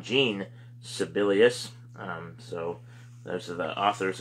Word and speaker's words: Jean Sibelius: Von Schlegel, that's S-C-H-L-E-G-E-L, I'm not sure how you pronounce that, and then John Sibelius, S-I-B-E-L-I-U-S, or Jean, I should say, not John, Jean Sibelius.